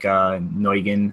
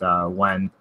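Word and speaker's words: Nguyen: I think Neugen, as I said, is pronounced Wen.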